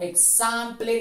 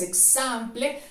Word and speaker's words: example: Por último tenemos una muy sencilla que algunos a veces la pronuncian como example, no es example. Sería entonces example, example.